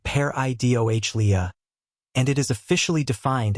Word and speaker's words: pareidolia: That name is pareidolia, pronounced pair-i-doh-lia, and it is officially